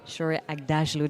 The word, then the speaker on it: Shohreh Aghdashloo: You followed it phonetically and that's the right way of doing it.